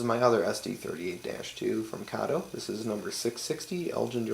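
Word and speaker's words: Kato: know a lot of people out there say KO um I call it kado just because that's how the employees at kado USA pronounce it so that's how I pronounce it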